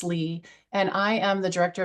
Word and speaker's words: Leah: Most people call me Lee, although it looks like it's spelled likely, I pronounced Lee.